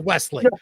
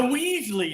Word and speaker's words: Wesley: You got the last name right, but his first name is Wesley. Well, you know why? The Weasley is kind of fun.